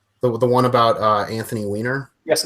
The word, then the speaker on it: Weiner: on their Wier the one about uh Anthony weer yes not the weer dog film isn't it weer dog yeah no it's it's pronounced weener okay believe it or not it really is pronounce weiner really uh ironically enough yes and that was